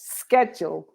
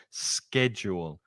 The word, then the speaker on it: schedule: And with the Americans, it's schedule. Exactly. So the Americans have that hard k, that k, that k sound. Schedule. But the meaning is the same, just a slight difference in pronunciation.